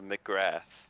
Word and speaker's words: McGrath: and uh uh how do you say your last name for uh my sake here in the booth uh McGrath all right McGrath all right then I was saying it right I'm pretty sure I have to re-watch it back but pretty sure I'll say McGrath so once again